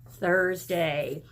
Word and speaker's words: Thursday: right today is Thursday what's that sound at the beginning of Thursday boys and girls can you stick your tongue out at me Thursday do you know some